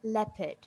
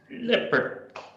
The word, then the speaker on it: leopard: Okay, so it's pronounced leopard. Okay, now repeat after me, everyone. Leopard. Leopard. Okay, great. Again, leopard. Leopard. Fantastic. Okay, now in the American accent, you can slightly hear the R, yeah?